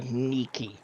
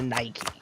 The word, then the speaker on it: Nike: So the actual Greek pronunciation would be more close to Niki. Niki. So we're But the anglicized version is Nike basically.